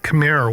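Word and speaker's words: Khmer: Uh I think it's pronounced kamir. It's k h m e r.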